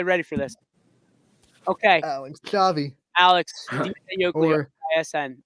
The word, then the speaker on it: Schiavi: I tell people, think of school. You know, you don't say shul, you say school because the SCH.